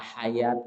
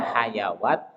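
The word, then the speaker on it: حياة: Makanya kalau kita tidak memahami Rasul Utsmani, ini rentan dibaca hayawat, ini rentan dibaca sholawat, ini rentan dibaca apa? Zakawat.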